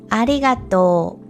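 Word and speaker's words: ありがとう: this character is not pronounced and instead we pronounce the vowel sound in Tor as a long vowel sound so again is arigato okay so with all that in mind let's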